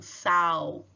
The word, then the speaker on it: sal: pelo som do U, sal. Porém, em espanhol não pode ter esse câmbio, né? Em espanhol, o L fica com o som de L mesmo.